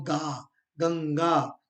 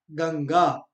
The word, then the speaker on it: गंगा: ग के ऊपर और गा गंगा गंगा उच्चारण भी देखिए उच्चारण जो जो मैं कह रहा हूं गंगा गंग न के उच्चारण के आधा न का उच्चारण हो रहा है नासिक ध्वनि है उसी तरह से अगला